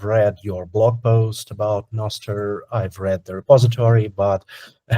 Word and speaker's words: Nostr: Is it Nostr, Nostr? How do I pronounce it?